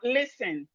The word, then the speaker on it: listen: We have listen. Listen, not listening. No, no, no. Listen, listen, listen, listen, listen. The T is silent. The T in listen is silent.